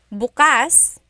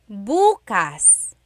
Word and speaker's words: bukas: If you say bas the emphasis is on the second syllable that means open. If you say buas emphasis is on the first syllable that means tomorrow.